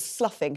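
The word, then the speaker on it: sloughing: they lose their skin it's called sluffing spelled like slow near heo airport sluffing we had a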